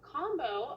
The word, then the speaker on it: Kambo: uh what is combo so combo and it's spelled k-a-m-b-o um it is a